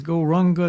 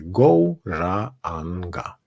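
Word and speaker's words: Gauranga: The mantra is Goranga, divided into 4 syllables.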